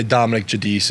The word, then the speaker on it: Dominick Giudice: So, uh, I was telling Brock this earlier, so I say Dominic Jadis is the correct way to say it, but when people ask the Italian way, it's Judiche.